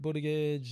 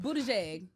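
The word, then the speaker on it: Buttigieg: Is it butt, but it's boot, but it's not butt. It's boot. But it's spelled like butt.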